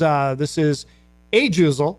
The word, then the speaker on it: Ajuzel: So this is Ajuzel.